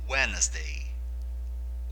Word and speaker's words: Wednesday: segunda-feira tuesday tuesday terça-feira wednesday wednesday o d ele é mudo enquanto nós pronunciamos essa palavra wednesday quarta-feira thursday thursday